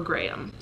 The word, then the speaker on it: Graham: that worries me so Graham is a strong name I love Graham I say it almost as if I'm saying great um but we live